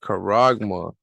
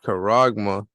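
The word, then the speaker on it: χάραγμα: the strong coordinates is G 5480 and it's pronounced coragma all right karagma and when you look up the definition right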